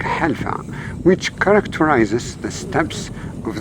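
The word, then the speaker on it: حلفاء: The dominant vegetation is the esparto grass or alpha, pronounced in Arabic halfa, which characterizes the steppes of the high plateaus.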